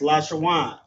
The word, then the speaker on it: Lashawan: These connectors assist uh in the pronunciation of the Hebrew word. For example, there's we have lash shawan right here. So we have la wa I'm sorry la sha w and n. That's lash shawan.